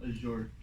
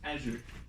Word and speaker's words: Azure: after that i'll do the basics of uh azure uh actually today i learned it's not azure or uh azure it's it's azure that's the correct pronunciation it's kind of uh interesting anyways um